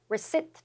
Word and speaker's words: receipt: 그 receive의 명사로는 receipt, 또 P가 묵음입니다.